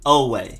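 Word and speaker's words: Oweh: you have edge jason away literally just oh way jason away next up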